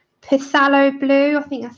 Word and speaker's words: Phthalo: Phthalo blue. Is that right? Am I saying it right this time? Philo.